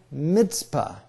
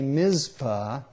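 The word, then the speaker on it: Mizpah: it we often say MPA but that's because we don't have a TZ letter in English language but in Hebrew there is the uh yeah and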